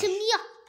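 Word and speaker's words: huit: Alors, on ne va pas prononcer le T, on ne va pas prononcer le H. 8.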